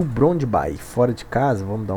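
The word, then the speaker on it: Brøndby: É Brondby que se pronuncia.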